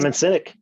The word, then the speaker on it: Simon Sinek: And Simon Sinek, I don't know if I pronounce his name. Simon Sinek, yes.